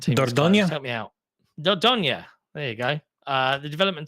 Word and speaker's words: Dordogne: In other news, I can't ever pronounce the name of this game, but the development team Dordogne. Help me out. Dordogne.